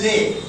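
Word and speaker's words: lay: जैसे मैं बता रहा हूं, यहां पर पहला शब्द है ले, इसको ले को एल ए वाई, तो लाए मत पढ़ना।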